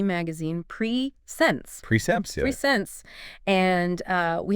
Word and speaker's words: PreSense: Presense by the way is pronounced preense.